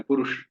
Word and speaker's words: पुरुष: हिंदी में ठीक है, अपनी अपनी भाषा में ठीक है, पर संस्कृत में उसको पूरा उच्चारण करना है, इंद्रनील। इसी तरह से पुरुष, पुरुष ऐसा नहीं कहना पुरुष।